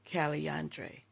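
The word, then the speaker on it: Calandre: One of my favorite signature frags, Paco Rabon Caliandre. That is how it's pronounced and I love it.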